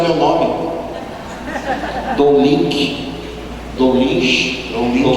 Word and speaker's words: Don Lynch: As pessoas até hoje não aprenderam a pronunciar o meu nome. Dom Lynch.